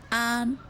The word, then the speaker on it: 安: Now, the fourth Chinese character is pronounced an.